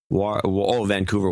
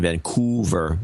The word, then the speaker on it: Vancouver: Vancouver, Washington, so it's pronounced differently. It's Vancouver, Washington, and Vancouver, Canada.